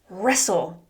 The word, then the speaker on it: wrestle: Wrestle. Wrestle." Notice how there is a silent "W" and silent "T."